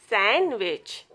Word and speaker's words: sandwich: This not pronounced in these words. Handkerchief, handsome, sandwich, Wednesday.